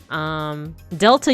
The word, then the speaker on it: delta: Delta, you would think that that's a D sound, right? But it's not. It's like a TH sound.